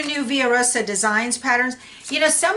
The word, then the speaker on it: Villa Rosa: So a lot of people call this Villa Rosa. It's V-I-L-L-A. In Spanish, that's pronounced Villa. Okay, so I call it Via Rosa Designs.